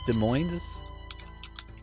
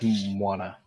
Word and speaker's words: Des Moines: Des Moines?